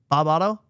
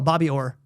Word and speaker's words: Bobby Orr: Bob Otto?